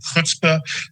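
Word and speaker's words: chutzpah: of Bob Marcus's groups are the only people who can really appreciate my perfect pronunciation of hutzpah because I'm genetically programmed to know how to pronounce that but you know most most of the time I lecture they look at me it's like shuts but what's that anyway so spelberg's definition of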